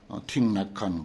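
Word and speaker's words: Thích Nhất Hạnh: 틱낙한. 그분이 아주 우리 세계에서 지금 제일 고수야. 틱낙한이 석일행이야. 우리로 하면 석일행을 베트남 발음으로 틱낙한 그러죠.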